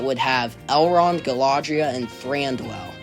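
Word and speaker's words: Thranduil: I think there there would be an elven bundle that would have Eland, Galadria, and Thandwell. I think threeandwell is how you say his name.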